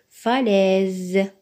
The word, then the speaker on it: falaise: S se prononce falaise falaise dans le mot falaise le s est placé entre deux voyelles le I et le E dans ce cas le S prononce falaise faisons maintenant ensemble cet